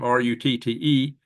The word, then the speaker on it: Rutte: Well, just so happens that NATO chief, Mark Rutte, have you say his name, Rutte, he kind of told Zelensky, you better go back hat in hand on your knees and make friends with Trump again.